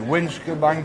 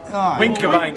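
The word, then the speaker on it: Wincobank: We went to the top of, how do you pronounce it, Winskabank Hill? Winkerbank.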